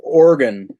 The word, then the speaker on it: Oregon: which one you got It's pronounced Oregon not Oregon Oregon area that's a